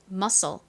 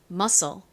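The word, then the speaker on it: muscle: 나지만이 경우에는 뒤에가 아니라 L이 왔음에도 SC n 쌍시 소리가납니다 자이 단어 역시 여기서 멈추면 안 돼요 끝에 떨어지 2를 꼭 붙여 주셔야 됩니다 자 발음해 볼게요 musle 근육 musle 좋습니다 같이 적어 볼까요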